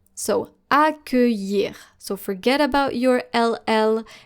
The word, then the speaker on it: accueillir: The double L here, every time you see an I and then an LL and then followed by a vowel, most of the time, not every time, but most of the time, it's going to be pronounced just like the letter Y.